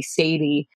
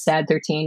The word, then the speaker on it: Sad13: And they sort of stylized their name in leet speak, but it's pronounced Brainiac. So following that, my band name should just be Sadie. But no, it is Sad 13, which to me was just sort of a